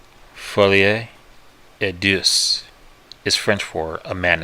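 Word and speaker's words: folie à deux: so did the bugs for da Deus is French for a man is shared by two ma'fucker mispronounced that Foley a dis is French for a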